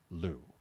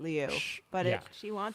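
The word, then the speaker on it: Liu: Leu but she has asked the media to pronounce it Lou. Yeah she pronounces it Leu but she wants us to say but she wants us to say Lou.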